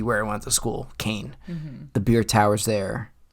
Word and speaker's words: Kean: best ke or Kane don't say Kean I take a little I'm get a little touchy with that it's Kane Kane but it's spelled k e a n yes like mean with a K but you don't call it main no you don't i